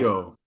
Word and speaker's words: Keough: Yeah, the Zellner brothers movie that chose to put Riley Keough, is that how we pronounce it, Giles? Kyo. Keough, and Kyo.